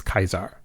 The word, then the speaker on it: Caesar: So the English Caesar developed later as Latin evolved and borrowed words into Germanic languages. So Lucia is clearly wrong about the Roman pronunciation of Kaiser. But she's only going by what she was taught. But that to me that begs the question, if the Legion are Lucy's contemporaries, not time travelers, then who taught them the accurate way to pronounce Kaisar?